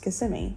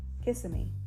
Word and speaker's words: Kissimmee: And I think that it should be pronounced Kissimmee, but then some people say Kissimmee. I say Kissimmee. Like an Italian, come over here and a Kissimmee.